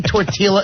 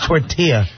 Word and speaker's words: tortilla: Someone should have said, "If you say tortilla again, I'll snap your Jewish fingers." It's tortilla. Tortilla. Tortilla. Tortillas. Tortillas. He pronounced every silent letter there was.